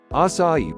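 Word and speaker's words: açaí: Acai, pronounced as acai, is a nutritious berry grown from a palm tree in the Amazon rainforest.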